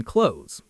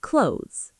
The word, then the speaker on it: clothes: It sounds like close with a Z sound at the end. Yes, close. Just like the verb to close a door. Exactly. Close the door and wear clean clothes.